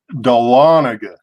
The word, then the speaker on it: Dahlonega: far from Darla Nega is that how it's pronounced dole vinegar or dolla thought like a child's doll or doll a like yes Dahlonega Dahlonega oh my gosh running nowhere close blender